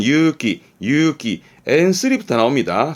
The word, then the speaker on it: 勇気: 발음은 유기, 유기.